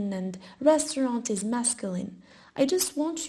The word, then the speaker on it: restaurant: Le restaurant. the restaurant. I know that the R is a bit tricky for you. You can pronounce the restaurant, but try to say r, like a small cat.